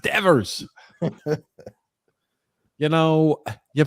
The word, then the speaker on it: Devers: you just call him I've never heard of Divas before what is this it's pronounced Devers you know you pronounce